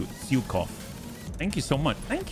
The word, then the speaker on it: Zhukov: Oh, the Zhukov. You just said it correctly. It's pronounced Zhukov with an emphasis on the U. Zhukov.